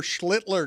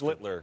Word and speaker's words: Schlittler: Schlittler. Oh, well, he's the master. Schlittler. Schlittler. Now your turn. Sound like Hitler.